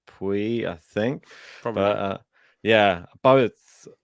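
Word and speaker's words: Pouille: Lucas peel yeah Lucas I think it's pronounced Pui I think uh yeah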